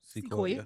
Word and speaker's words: CeCoiya: Did I pronounce it right? CeCoiya. Yep. C with the C. With a C, please.